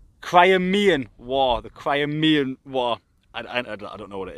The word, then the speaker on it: Crimean: How did you pronounce it, Eddie? Crimean. Crimean War. The Crimean War.